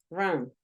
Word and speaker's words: run: Por ejemplo, nosotros decíamos el verbo correr, run. Es un sonido schwa también, míralo. run, Run, run. Ese que te decía que va entre una A y una O.